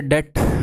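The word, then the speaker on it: debt: डेट वैसे B silent है, अंग्रेजी की ये बात मुझे समझ में नहीं आती, जब अक्सर चुप ही है तो उसे लिख क्यों रहे हो, इसकी प्रोनाउंसिएशन है डेट। डेट डेप्ट नहीं होती, इसका मतलब होता है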